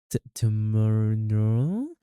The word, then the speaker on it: TRMNL: It's called TRMNL. How do you even pronounce this? Tomorrow.